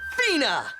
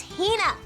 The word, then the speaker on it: Hina: And this young lady is my traveling companion, the esteemed archaeologist, Fina. You keep saying it wrong. It's Hina.